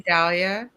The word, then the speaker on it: Dalia: what did you think I haven't pronounced your name right all the evening I know you say Dalia yes yeah I don't